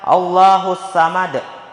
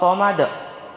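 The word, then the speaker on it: الصمد: Somad di ayat ini terkadang ada orang yang membaca allahusamad padahal yang benar allahus Somad di situ huruf SH bukan huruf Sa di ayat selanjutnya lam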